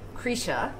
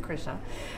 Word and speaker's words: Krisha: in the same way and recapture that welcome krisha which we've just learned that is the proper pronunciation because a lot of people are saying krisha and which is fine trey trey the director